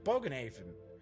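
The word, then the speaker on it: Bogenhafen: over bog - or baaga - no it's bogan Haven it's bogan Haven that's it bogan - lets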